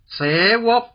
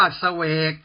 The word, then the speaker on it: เสวก: ๆ ว่า สุกี้ 7 เสวก คือ ข้า ราชการ ใน ราชสำนัก หาก อ่าน ว่า เสวก ไม่ มี ความ หมาย อัน ใด 8 โหลน